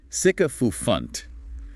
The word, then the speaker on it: sycophant: Sycophant pronounced sycopant. Clean and sharp on that first syllable.